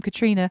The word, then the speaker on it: Katriona: So let me tell you my website, because my name is spelt it's pronounced Katriona, which is how we're saying it.